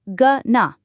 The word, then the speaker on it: going to: The owing of going often reduces to just g and to reduces to n or even just uh after the n. So going to becomes gna.